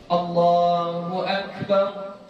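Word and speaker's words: الله أكبر: Jadi sudah mudrijatan musri'atan itu baca ini sesuai huruf-hurufnya, baca sesuai panjangnya, cukup 2 harokat saja. Jadi bagaimana? Allahu Akbar, gitu saja.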